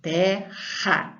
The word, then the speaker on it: terra: Mas o som é forte, terra.